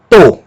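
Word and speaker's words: τό: Depois nós temos tal, som de T, e um ômicron, som de O. Não tem aspiração nessa palavra porque ela não começa com vogal, nem com ditongo, Ela começa com uma consoante, por isso não tem aspiração. Tá? Um tal e um ômicron vai ser pronunciado como to.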